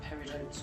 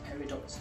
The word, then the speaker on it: peridot: so you could actually call them peridotes or peridots, depending on how you wish to pronounce that.